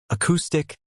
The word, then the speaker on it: acoustic: Now, moving on to music-related words: acoustic, rhythm, melody, and harmony. Acoustic is pronounced slash k.stick slash, stress on the second syllable.